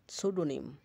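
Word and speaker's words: pseudonym: পি এস এভাবে ব্যবহৃত হলে, তাহলে ফি এর উচ্চারণ হয় না। যেমন সাইকি, আত্মা। সাইকো, মন। সোরা, খুশপাসরা। স্যাম, স্তবগান। সাউডোনিম, সাউডোনিম, সুডোনিম, ছন্দনাম।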